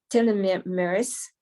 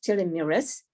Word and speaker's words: telomerase: discovered the relationship between telling me maris it's a spell like uh delay morris but it's pronounced tilly mirres and um she's found